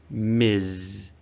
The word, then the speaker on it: Ms: the next one is pronounced Ms with a z sound at the end okay this is very important do not confuse Miss and Ms Miz is usually used with